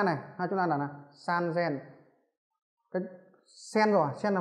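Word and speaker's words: さんぜん: 8000, chúng ta cần phải chú ý đó là 3000 nó đọc là san zen. San zen. Đó. Chúng ta là bình thường là sen là 1000 rồi.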